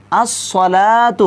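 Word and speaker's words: الصلاة: সালাকে লাম বহত খিচনা এখানে দেখুন আসসালাতু আসসালাতু লাম খাড়া জবর লা এটা লাম খাড়া জবর লা এটাকে কি করতে পারবেন না টেনে পড়তে পারবেন না শুধুমাত্র এক আলিফ টেনে পড়তে হবে আসসালাতু হ্যাঁ এক আলিফ টেনে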